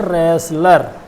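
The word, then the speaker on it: wrestler: इसके नीचे रेसल है और रेसल के नीचे ही है रेसलर। ये खेलों से संबंधित है, पहलवान जो मल्ल युद्ध करते हैं उनको कहते हैं रेसलर। यहाँ W नहीं पढ़ा जाता है, बोलते सब हैं रेसलर, लेकिन अगर स्पेलिंग पूछी जाएगी तो ज़रूर गड़बड़ा जाएंगे।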